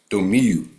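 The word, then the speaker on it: Domił: So it's pronounced like a U. So Domiu.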